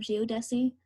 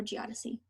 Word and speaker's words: geodesy: the principal components of geodesy or geodesy i have heard they pronounce both ways so geodesi is the